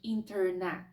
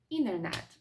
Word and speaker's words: internet: поняття, як silent to, коли літера пишеться на письмі, але не вимовляється. Зазвичай це відбувається, коли у нас поєднується літера Н і літера Т. Тобто американці зазвичай не кажуть internet, вони кажуть internet.